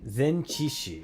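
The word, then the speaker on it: 前置詞: Zenchishi.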